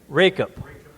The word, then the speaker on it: Racop: Racop. Rake up the leaves.